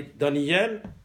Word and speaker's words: دانیل: چون زیر الف نقطه ولی دانیل زیر الف نقطه نیست همینطور یحزقیل زیر الف نقطه نیست بنابراین الف اصلا تلفظ نمیشه